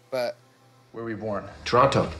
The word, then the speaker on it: Toronto: Toronto. Toronto. Canadians don't pronounce the T.